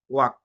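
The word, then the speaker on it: walk: যেমনটা ওয়াক, ডব্লিউ এ এল কে, ওয়াক, আমরা একবার ওয়াল্ক বলিনি, এলটা সাইলেন্ট।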